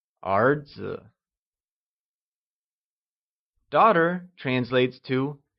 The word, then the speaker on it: 儿子: The word son translates as 儿子, and it is pronounced using the mid-rising tone. Can you say 儿子?